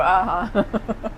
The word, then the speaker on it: Hu-huh: I'm never sure if it's ooh or aha. Well, after I open, I realized my French or Italian customers wouldn't pronounce this properly.